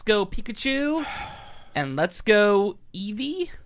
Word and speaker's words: Eevee: I don't think it's pronounced that way. It's not pronounced Eevee. We've been pronouncing Eevee wrong our entire It's lives. It's like eevee. It's just a weird accent on Eevee. I think in English it's pronounced Eevee, but in Japanese I think it's pronounced in a way that I can't say it.